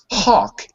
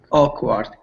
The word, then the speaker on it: awkward: front of the a there's no h it's not Hawk it's o o o o awkward perfect that's it an